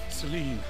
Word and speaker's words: Celine: Celine. So that's how you're supposed to pronounce her name.